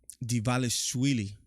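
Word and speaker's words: Dvalishvili: So yeah, Divalishvili, that's how you pronounce his last name.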